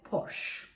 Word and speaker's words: Porsche: alan diye işin açıkçası biz Türkçede bunun Porsche ediyoruz fakat İngilizcesi Porsche Gerçekten çok güzel arabalar